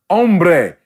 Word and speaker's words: hombre: So when I hear now the word hombre, okay. The H is silent.